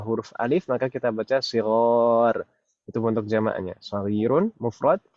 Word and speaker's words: صغار: Shaghir kalau setelah huruf ghin itu adalah ya, kita bacanya shaghir. Tapi kalau setelah huruf ghin adalah huruf alif, maka kita baca shighar.